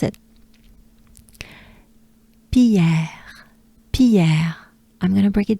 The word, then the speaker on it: Pierre: It's a typical French R.